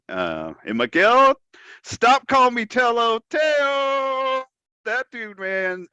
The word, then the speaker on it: Tello: Teo, instead of Teo, it's spelled Tello, but pronounced Miguel Teo.